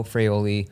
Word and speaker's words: Fraioli: Today on our podcast, the guest is or Freyoli, which is the right way to say it.